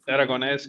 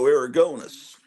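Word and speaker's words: Aragonés: aragones Aron in aragones it's aragones it's the last syllable that is dressed aronz aragones Ser aronz okay yeah Aragon it's not like when I was in second grade it was Sergio aronis yeah no no there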